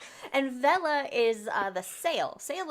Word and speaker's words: Vela: V V E L A. I don't know if it's pronounced Vela or I'm going to assume it's pronounced Vela or Vila. Vela. I'm gonna go with Vela.